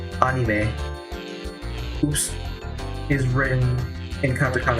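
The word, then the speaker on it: アニメ: The word anime, which in Japanese is pronounced anime, oops, is written in katakana as well, because the word anime in Japanese comes from the word animation.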